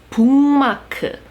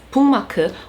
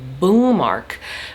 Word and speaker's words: bookmark: Instead of 북, they will change it to a 붕 and pronounce it as bookmark. Whereas for an English speaker, it's perfectly acceptable to pronounce the K. We say bookmark.